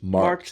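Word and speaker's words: Markt: Uh, it's called Marked AI, which is marked is market.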